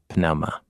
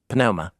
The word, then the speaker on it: pneuma: And the one thing that is certain was that there was no silent P at the beginning of words. It was pronounced. Anyway, yeah. Cool. Pneuma.